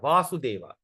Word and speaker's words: Vasudev: So if there's a dash on top here, is Krishna, Vasudeva. But when there's no dash, okay, when there's no dash, it is called Vasudev.